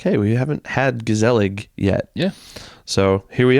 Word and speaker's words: Gezellig: us tonight yeah so this is gazel we're pretty sure we're pronouncing that correctly gazel Brew Brewing Company out